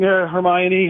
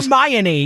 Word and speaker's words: Hermione: So I'm Hermione. You're adding an extra N in there. So I got to just extend the I. Hermione.